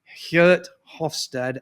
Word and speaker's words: Geert Hofstede: that's research from a Dutch professor, and the Dutch folks will always murder me because I never pronounce his name correctly. It's Geert Hofstede, and I apologize to all my Dutch colleagues.